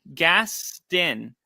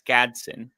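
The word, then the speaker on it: Gadsden: The second D is silent and it's Gadson.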